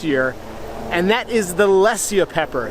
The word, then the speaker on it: Lesya: And but one has just really stood out this year, and that is the Lesya pepper. It's spelled L-E-S-Y-A.